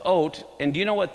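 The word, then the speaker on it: אות: It's the aleph, the yud, or the aleph, vav, and the tav is how it's spelled. It's ot.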